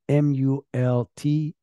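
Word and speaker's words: Multiplai: You can find that course on Multiply, that is spelled M-U-L-T-I-P-L-A-I. So like multiply, but instead of Y in the end, AI in the end.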